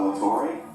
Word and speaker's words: Todd La Torre: My name is Todd La Torre. Torre. My name is pronounced nothing like it's spelled. It's Latorre.